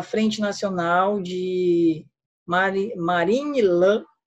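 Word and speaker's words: Le Pen: nacional de marine marine lan lan é assim que pronuncia além de outros de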